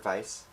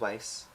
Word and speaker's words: Weiss: Uh, it is not the German word vice. Uh, it is Weiss. It does rhyme with nice.